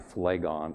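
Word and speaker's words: Phlegon: for me is a guy named Flegon. Flegon is spelled P H L E G O N.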